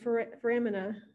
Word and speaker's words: foramina: Foramen is singular, and then foramina would be plural.